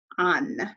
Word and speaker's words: han: And then ellos, ellas, ustedes, han. Notice that H is silent.